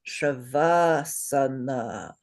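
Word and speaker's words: Śavāsana: So that one is pronounced Shavasana. Say Shavasana. Good. Shavasana. Not Shavasana.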